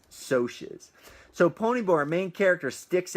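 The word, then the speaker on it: Socs: I had to Google how do you pronounce s OCS because that's how it's written in the book and in your head you want to say socks and actually Ponyboy in the book says I don't even really know how to pronounce it but I'm gonna use so she's so Ponyboy main character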